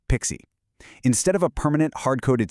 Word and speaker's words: PKCE: The answer here is a massive modern security upgrade called PKCE, often pronounced Pixie.